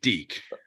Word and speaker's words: Deke: with uh um D can I am I pronouncing your name right sir yeah that's correct Deke okay oh then we'll get with Deacon and